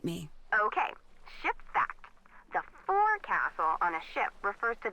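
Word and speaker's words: forecastle: ship but it's pronounced Fel why is that try pronouncing it like an English sailor with no formal education F Castle fil over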